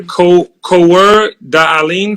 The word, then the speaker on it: Coeur d'Alene: and you're a citizen I want to say this correctly the co co er Darlene tribe did I say it right yes Coeur d'Alene Tribe you did yeah it's not easy either it's a French name it's actually what the